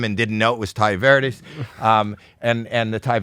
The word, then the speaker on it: Tai Verdes: I'm Howie Mandel and Ty How do you pronounce it? Uh Ty Verdes.